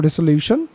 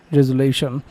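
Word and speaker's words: resolution: আমি এটা উচ্চারণ করেছিলাম রেজুলিউশন। আসলে এর সঠিক উচ্চারণ হবে রেজুলেশন।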